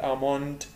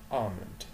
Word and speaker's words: almond: almond اللي هو لوز، وطبعا خلي بالكو ال L مش منطقها، بقول أكن بمد آمند آمند، مش بقول آموند آمند، الأو مش موجودة، أكنها مش موجودة خالص، بقول نطق الصح آمند لوز.